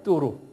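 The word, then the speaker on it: Tours: 우리 저 불란서 빵집 뚜루 뭐예요? 그 비슷한 발음이에요. 뚜루.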